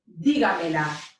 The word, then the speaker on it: dígamela: It should be pronounced dígamela.